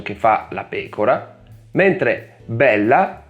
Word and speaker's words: bella: Beh, con certe consonanti bisogna prolungare un po' il suono e accentare leggermente di più la vocale che la precede. Bela, bella. In questo caso le parole hanno due significati diversi.